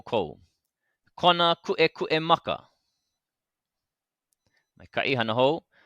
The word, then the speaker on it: kuʻekuʻe: So it's going to make those sharp breaking sounds in the middle of our word. It's not kuʻekuʻe. Yeah, not kuʻekuʻe. But we need to make sure that the okina is there in our pronunciation the same way it's there in our spelling.